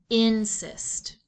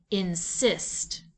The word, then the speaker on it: insist: Most English words are accented on the first syllable, so let's try that. Insist. Does that sound right? No. Let's try shifting the accent to the second syllable. Insist. That sounds better and is our second choice for VC-CV words.